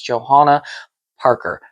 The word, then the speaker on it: Johanna Parker: and I pronounce it the way that she pronounces it on her blog, which is Johanna Parker.